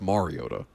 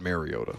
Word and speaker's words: Mariota: It's Mariota, not Mariota.